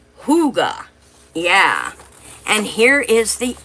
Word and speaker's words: hygge: Huga is H Y G pronounced Huga.